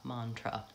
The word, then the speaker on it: mantra: times the questions are even though mantra has two A's in it one of them says ah and one of them says a mantra and that's because the first syllable is stressed it has a clear